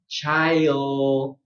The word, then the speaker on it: child: So my advice is to do this slowly. Okay? First, get the ch, and then your diphthong, I, and raise your tongue. Child.